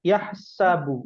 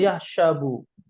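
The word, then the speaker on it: يَحْسَبُ: dengarnya ya itu ya yahsabu bukan yahabu ya Masyaallah ya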